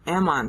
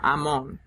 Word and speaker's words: Amon: dies and his son amnon Ammon takes over Amon is really how I should pronounce it Amon so these two syllables